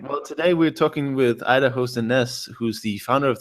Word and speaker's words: Idahosa: Just first to set the record straight, it's spelled Idahosa, but it's pronounced Idahosa.